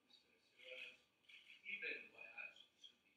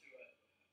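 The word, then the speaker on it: Siraj Ibn Wahhaj: I'd like to ask you if you pronounce the name of the person, Mr. Siraj Ibn Wahaj, and not Siraj Wahaj. He's the son of a very prominent preacher in Islam in America, and you pronouncing his name as though this is the person you're talking about, but he's the son of this person. And in that name should be Ibn Wahaj, so people don't, with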